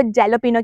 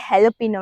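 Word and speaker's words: jalapeño: यहाँ पे आई थी, तो मैं ना हैलोपिनो को जैलोपिनो कह रही थी। फिर मुझे पता चला ये हैलोपिनो है, इसकी प्रोनाउंसिएशन कुछ इस तरह से है।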